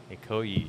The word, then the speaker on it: Ikoyi: Ikoyi, Is that how yeah. it's pronounced?